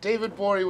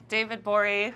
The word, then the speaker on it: Gborie: At the G is silent. David Gborie with the G.